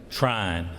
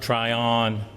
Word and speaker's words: Tryon: We pronounce that one syllable now, Trine, not Tryon, but Trine.